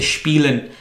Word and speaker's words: spielen: Words की combination था, जैसे एस और पी, शे की साउंड होता है, जैसे स्पीलन, स्पेलिंग उसके SPIELEN होते हैं, खेलने को कहते हैं लेकिन कहते हैं स्पीलन है।